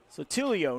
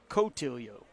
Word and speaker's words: Sotilio: It's Sotilio, not Cotilio.